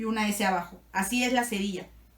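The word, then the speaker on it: ça va: suene suave es decir en vez de sonar como cava va a sonar como Saba lo vamos a encontrar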